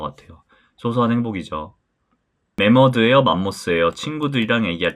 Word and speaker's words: 매머드: 제가 검색을 좀 해봤는데 맘모스가 옛날 일본식 발음이라고 하더라고요 머스 일본식 발음이고 메머드 카페는 그래서 전가가 제 모델로 있었을 때도 만모스 아니다 메머드 홍보 문구였어요 그래서 머스 아니고 메드라 발음하시면 된다 어제 라떼 손님이 몰려서